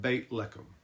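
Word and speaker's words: בית לחם: place is called Bethlehem in Hebrew we would pronounce it bait leum it means House of Bread the name conjures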